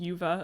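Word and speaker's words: Juvet: the Forts and it's it's spelled uh j-u-v-e-t but pronounced Yuva apparently which is Norwegian for Gorge so there you go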